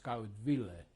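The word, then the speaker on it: Skaudvilė: Skudvil. Now the Lithuanian pronunciation is a little bit different. It's Skaudvile.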